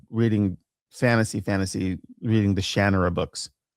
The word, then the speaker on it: Shannara: It's actually Shannara. He he pronounces it Shannara.